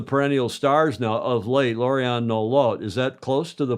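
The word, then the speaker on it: Lauriane Nolot: And one of the perennial stars now of late, Lorianne Nolot. Is that close to the pronunciation?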